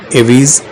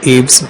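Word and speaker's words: Aves: तो ये जो वर्टिब्रेट्स हैं एवीज या एव्स, अब स्पेलिंग के हिसाब से एवीज बोलते हैं उसको, तो वो एरियल लाइफ के लिए एडेप्टेड है, मतलब हवा में उड़ सकते हैं ये।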